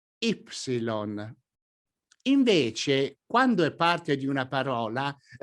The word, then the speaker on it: ipsilon: When the letter you see on the screen is by itself, it can be pronounced in different ways: i-greca or: i greco, or, better yet, in scientific fields ipsilon.